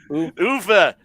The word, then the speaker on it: Uwe: Have you guys ever covered the Uli Boyle Rampage films? I believe there's 3 of them. No. Uwe. It is pronounced Uwe, you Schweinhund.